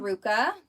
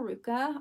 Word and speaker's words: RVCA: came in here these are adorable they're from Ruka so here is the label Ruka RVCA but it's pronounced Iruka it's a California brand appreciate that